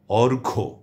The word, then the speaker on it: অর্ঘ্য: আমি নিয়মটি আবারও বলছি, যদি শব্দের বা পদের মধ্যে কিংবা শেষে যুক্ত ব্যঞ্জন বর্ণের সঙ্গে জফলা সংযুক্ত থাকে, তাহলে সেই জফলার কোনো উচ্চারণ হয় না।